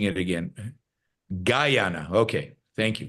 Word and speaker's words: Guyana: And all right, I'm being told I'm mispronouncing it again. Guyana. Okay, thank you. Guyana.